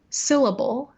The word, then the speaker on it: syllable: If you listen, the word syllable has its stress on the first syllable, and I show that by pitch. Syllable, I go down after the first part. I show it through duration of that syllable. It has the longest length in the word.